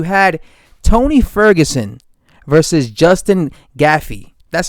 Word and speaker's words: Gaethje: You had Tony Ferguson versus Justin Gaethje. That's how you pronounce his last name.